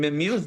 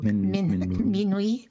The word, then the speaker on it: Minwi: Uh, when Mimu is not on, am I saying it right? Mimui. Minwi.